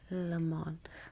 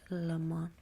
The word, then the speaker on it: Le Mans: Le Mans. I don't know if I'm saying that right. It's a French word. It's spelled Le Mans, but you're supposed to pronounce it Le Mans.